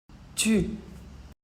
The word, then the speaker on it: tu: et pour votre famille on le prononce tu avec le Son u pas ou u le U tout seul en français ne fait jamais ou il elle exemple il